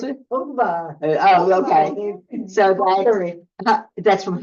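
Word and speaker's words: Ungvár: How do you pronounce it? Ungvar.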